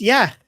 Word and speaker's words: یخ: By the way, we don't pronounce yak like this, okay? So it's just yak. It's not yak. I don't know why he's trying to. I don't know why he's doing that. It's like saying ice, like something like that.